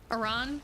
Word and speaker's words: Aran: Aran? Correct. A lot of people, most people say Arin or Aran. The official correct pronunciation is Samus Aran.